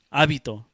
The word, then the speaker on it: hábito: Hábito. Hábito con la regla de 2 minutos. It's a habit. Hábito es un habit. Hábito. So, H is silent.